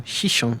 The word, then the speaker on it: Xixón: Day four of our cruise and we've arrived in Hihon or Shishon as it's pronounced in Atorium.